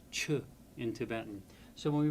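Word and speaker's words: ཆོས: Chu the word for dharma would be transliterated ch h o s. The cha stands for the ch stands for the letter cha. The o for the naro nar o and the saw becomes s. But no one pronounces that word chus.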